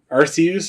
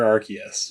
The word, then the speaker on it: Arceus: Arceus or Arceus? Which one is it? I've always pronounced it Arceus. I've always said it that way too, but I've always seen it Arceus. I've always been like Ryan Reynolds pronounces it Arceus in Detective Pikachu.